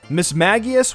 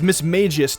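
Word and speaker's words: Mismagius: Pokemon rusty I don't think I will ever mispronounce this pokemons name again miss Maggie is was miss Mae gist to me I mean it did look like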